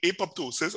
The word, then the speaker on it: apoptosis: Apoptosis, or sometimes the second P is silent, so you'll hear it pronounced as apoptosis.